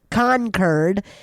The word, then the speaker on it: Concord: Uh, so the next time you're in Concord, uh, that's how you pronounce it as a local Concurred.